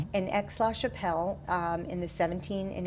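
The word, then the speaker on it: Aix-la-Chapelle: Uh, it's pronounced X Lash Chappelle and Ex Chappelle um in the 17 and 1800s was an important uh diplomatic city.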